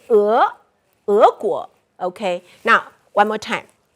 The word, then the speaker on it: 俄: The old pronunciation is 恶. Okay? But new pronunciation, somehow people make it, they change the tone. So it's 俄. So originally we say 俄国. And right now it's 俄国.